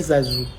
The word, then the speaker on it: Zazou: Il s'appelle Zazou. Zazou, c'est facile à prononcer. Zazou. Comme Grisou.